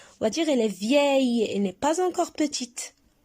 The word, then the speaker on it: vieille: On va dire elle est vieille, elle n'est pas encore petite. Alors, vieille. Et on a 2 syllabes. Vieille, le.